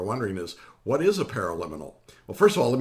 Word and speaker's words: paraliminal: of you are wondering is what is a pair of liminal well first of all let me spell it for you because it's kind of a